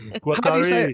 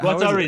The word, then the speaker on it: Guattari: Guattari. How do you say it? Guattari is totally right. That's totally right.